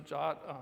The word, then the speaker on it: JWT: quick interlude on jot JWT or jot you're supposed to pronounce a jot a lot of people say JWT it's confusing as hell